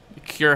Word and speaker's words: Khur: I wanted to be Cure, but I didn't want to spell it the traditional way, so I put Khur.